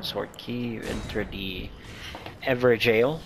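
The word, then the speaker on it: Evergaol: After you light that up or use that stone sword key, you enter the Ever Jail. It is pronounced jail.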